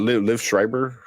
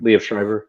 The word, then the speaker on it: Liev Schreiber: Was that Liv Schreiber? Was that right? Did I pronounce the name? Liev Schreiber.